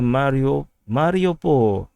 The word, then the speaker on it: Mariupol: So going down to the Mariupol. So I actually learned how to pronounce this as Mario, Super Mario, Mariupol. So, previously I pronounced this as Mariupol. So that's very Singaporean way of pronouncing this.